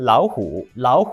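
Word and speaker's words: 老虎: 이 단어는 2 성 , 3 성조 를 가지고 있습니다 . 예 . "lǎo" 이지만 "lǎohǔ" 입니다 .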